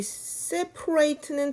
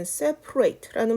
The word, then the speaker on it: separate: 이 separate는 동사로 쓸 때는 separate라는 발음이 나고요. 형용사로도 뭐 분리된이라는 뜻으로도 쓰여요. 그럴 때는 separate, separate 이런 발음이 납니다. 그래서 형용사일 때, 동사일 때, 그러니까 분리된이라고 할 때는 separate, 분리시켜라 또는 분리하다라고 쓰일 때는 separate. 그래서 A 발음이 좀 강하게 나는 것이 동사입니다.